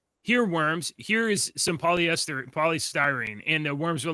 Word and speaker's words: polystyrene: Polystyrene, how do you say that? Polyesterine. Polyesterine, yeah, that's right. Yeah, polyesterine. Okay, thank you. No, polystyrene.